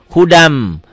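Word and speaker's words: هُدًى مِنْ: Ya, bacanya gimana hudan? Hudam.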